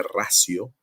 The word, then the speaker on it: ratio: ver en alguna literatura el término ratio con t eso en latín se pronuncia racio la ratio es el